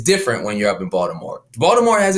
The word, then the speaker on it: Baltimore: Now you put me on the spot, but I say Baltimore. All right. So if you're from the area, you're gonna say it with a D.